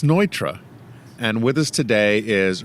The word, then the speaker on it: Neutra: not frud but Frey it's not Nutra but Nitra it's ntra it's ntra